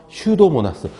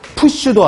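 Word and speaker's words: Pseudomonas: 기타 해서 슈도모나스. 슈도라고 읽어요. 슈도. 푸슈도 아니고 슈도예요. 슈도. 피가 묵음이래요. 묵음.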